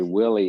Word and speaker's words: Willie: And I'd like to note that Dennis Wiley has 1 L and Willie has 2 L's, and that's why we pronounce it differently. But everybody messes it up and calls me Wiley anyway.